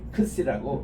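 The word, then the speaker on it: ξι: 크시라고 발음을 합니다.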